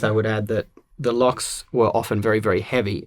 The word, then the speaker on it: LOQ: I mean, I think the locks are great. I think we used to pronounce those LOQ, but it's a lock.